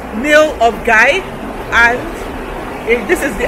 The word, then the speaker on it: Milngavie: it's a medieval village it's pronounced nail of guy and if this is